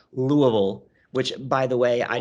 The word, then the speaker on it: Louisville: or niles oh niles louisville or whoa the second one was closer to the proper pronunciation of louisville which by the way